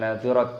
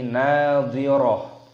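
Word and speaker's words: ناضرة: Toknya Taknya marbutohnya ini dimatikan ketika tanda waqaf diganti dengan hak, bukan nadhirat tapi nadhirah.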